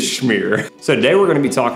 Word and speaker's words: schmear: How do you say schmear? Is it schmear? Smear? Schmear. It is schmear.